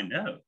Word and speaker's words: know: Misalnya K sama N. Itu bisa saya tahu I know, enggak I know. Enggak, I know.